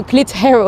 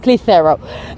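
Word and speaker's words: Clitherow: When you spell it, it looks like Clit Harrow. So Clit Harrow, I find it funny, very childish really, but she's actually called Clitheroe.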